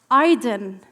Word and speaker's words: Idan: I chose his thoughtfully Iden meaning Prosperity later I was told Idan is pronounced Adan in Hebrew representing a new era